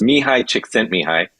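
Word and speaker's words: Mihaly Csikszentmihalyi: the guest on the show but uh it's pronounced mihai chick sent me hi uh and he's a psychologist polish psychologist um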